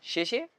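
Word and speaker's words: 谢谢: 谢谢. 谢谢.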